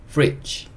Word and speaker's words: fridge: 그리고 마지막 E는 묵음이에요. 그래서 이거는 fridge, fridge 이렇게 읽을 수 있고 fridge가 냉장고입니다.